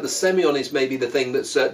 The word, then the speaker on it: Semillon: Our wine today is Casa Silva Late Harvest Semillon Gewurztraminer. Interesting, they put the accent on the O in Semillon rather than the E in Semillon.